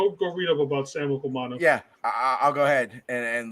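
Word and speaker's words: Okuayinonu: Okuwanu.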